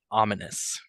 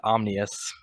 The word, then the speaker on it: ominous: let you know uh the word is pronounced ominous ah what I say you said omnus okay do you want